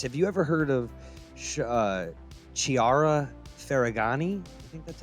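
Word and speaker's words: Chiara Ferragni: Have you ever heard of Chiara Ferragani?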